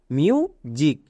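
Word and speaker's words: music: দাঁড়ালো মিউ জিক এবার এখানে এস এর জন্য বর্গীয় যৌগ কেন হলো সবাই জানছো এস এর দুপাশে দুটো ভাওয়েল থাকলে এস এর জন্য বর্গীয় জয় হয় তাই এর উচ্চারণ হলো মিউ জিক ইউ দেখলেই আমরা হস্যুগার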